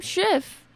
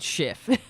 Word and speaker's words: Schiff: time mispronouncing the name of the democratic party mispronouncing Adam Schiff Adam Schiff did it shift yeah oh for a second I thought I